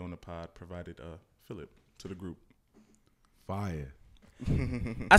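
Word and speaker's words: Fillip: It sounds like another word, but it's spelled differently. It's Philip. I'm sorry. What? Like Philip Banks? Wait, like Philip Banks? I swear to God, I didn't make it up. It's F-I-L-L-I-P.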